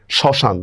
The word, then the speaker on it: শ্মশান: শ্মশান। দেখছেন? এখানে ম ফলার উচ্চারণ হচ্ছে না।